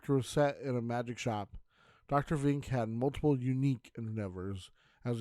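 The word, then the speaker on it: Vink: he introduces himself by saying Vin's the name Dr Vin he would also get his name mispronounced usually something like Dr Fink when this happened he would respond with a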